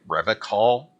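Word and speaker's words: Revachol: He pronounces Revol with a hard K, unlike other people. Did Did you say Revol?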